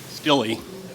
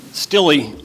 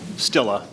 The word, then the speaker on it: Steele: Miss Nadia El and um Mr Steele stey pardon Sly Sly ah a German pronunciation well stilla but you know Sly okay all right we